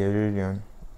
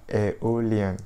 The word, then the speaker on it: Aeolian: be learning the locrian the mixolodian and the aerial aeolian sorry why is that so hard to pronounce all right so that is to say